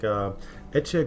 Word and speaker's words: Ece: I think the C is pronounced like a che. So Ece Gurdag.